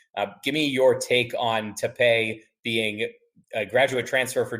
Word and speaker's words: Tapé: Yeah, and first of all, the most important thing, his last name is spelled Tape, but you are correct. It is not pronounced tape like Scotch tape. It is Tapé.